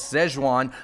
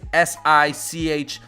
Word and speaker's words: Sichuan: However, the more updated way to spell it is S-I-C-H-U-A-N, based off the official Hanyu pinyin, which is used today. And it's also pronounced Sichuan.